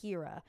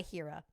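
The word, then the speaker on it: H33RA: would get Shook by Hira. And if you're going to look him up, it's H33 RA, but it's pronounced Hira. Like the threes are E.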